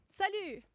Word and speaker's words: salut: Salut, salut, which sounds like salute, right?